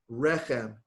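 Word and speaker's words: רחם: Rechem, accent on the first syllable.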